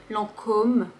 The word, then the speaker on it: Lancôme: Il faut juste prononcer le O de façon plus ronde. Lancôme, Lancôme.